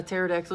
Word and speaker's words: pterodactyl: Why have you never heard a pterodactyl urinate? Do you know? Because the P is silent.